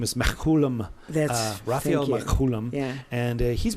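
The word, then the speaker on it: Mechoulam: say it correctly it's uh his name is Mack Coulomb this Coulomb yeah and he's been studying cannabis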